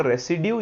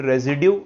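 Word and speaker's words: residue: में लेना होता है, दैट इज कॉल्ड रेसिड्यू या फिर रेजिड्यू, आप जो भी इसको बोलना चाहें, प्रोनाउंसिएशन से कोई फर्क नहीं पड़ता है।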